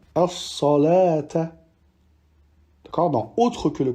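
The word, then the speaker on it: الصلوٰة: Ensuite, dans ces deux cas, on ne prononcera pas le waw, tel que dans au-dessus al-hayati ou bien as-salata.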